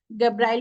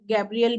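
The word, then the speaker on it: Gabriel: हो सकती है मतलब आपका प्रोनाउंस गब्राल भी बोल सकते हैं गैब्रियल भी बोल सकते हैं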